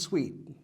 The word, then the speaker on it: suite: as you I te this sweet like in apartment buildings there are different rooms each one is called sweet like a hotel suite and this sweet same pronunciation different spelling and different meanings this one here we